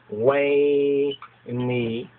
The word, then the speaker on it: veni: So VENI or WENI, you understand? WENI, which would be more correctly pronounced WENI.